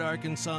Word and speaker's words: Arkansas: On your favorite Arkansas sports talk station.